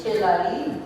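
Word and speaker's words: Kalaallit: Down on measure 4, the top buzz actually starts, and it's Kilali. It's instead of L-I-T, it's Li. So you could write in L-E-E below, if that helps you, but it's Kilali.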